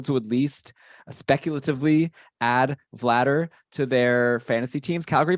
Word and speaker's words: Vladar: All right, so we're gonna go Vladar from now It's on. Vladar. Okay, Vladar. Well, I'm seeing, yeah, that's how I'm reading the pronunciation. So it's like batter.